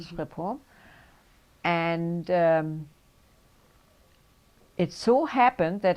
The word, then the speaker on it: Schiphol: and it's spelled S-C-H, That's okay. Schiphol.